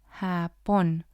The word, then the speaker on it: Japón: As you hear the sound that the letter J makes, it's very similar to the H in English.